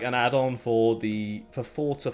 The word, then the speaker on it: Forza: Is it Forza or Forza? It's a bit weird the way you pronounce it. But It's like pizza. Forza. pizza, Forza. It's just like that.